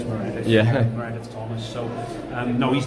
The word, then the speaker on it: Maredudd: You might look at his name and not know how to pronounce it, but it is Maredudd.